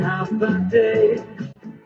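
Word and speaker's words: Håfa Adai: Just pronounce it as in half a day.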